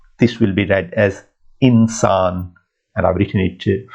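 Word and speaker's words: انسان: sound, So it says insan. Now, it doesn't say ansan, it says insan. So alif is not giving you a sound here. This zer is giving you I sound here. Alif is totally silent.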